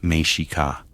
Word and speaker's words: Mexica: The people we call Aztecs called themselves the Mexica, pronounced Mexica.